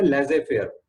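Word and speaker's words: laissez-faire: इसको एक और नाम है लेजे फेयर, इसको प्रोनाउंस करते हैं लेजे फेयर.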